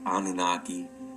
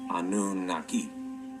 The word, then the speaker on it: Anunnaki: descriptive term anunaki now you can pronounce this as anunaki but you could also pronounce it as anun Naki because they used three